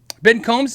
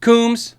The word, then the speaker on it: Coombs: Ben Combs in the house? Coombs.